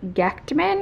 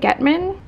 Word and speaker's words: Gechtman: This one is by Andy Gechtman, I think is how you say it, Gechtman.